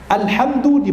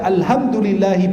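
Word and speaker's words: الحمد لله: dari godaan siapa alhamdulillahirobbilalamin Alhamdulillah dibaca hak bukan hak kalau baca Alhamdulillahi pakai h batal salatmu karena artinya kematian kalimat Alhamdulillah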